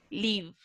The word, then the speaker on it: live: Recuerden que las E al final de palabra en inglés son, ¿se pronuncian o no se pronuncian? No, ¿cierto? Son como mudas. Entonces yo digo live. Live.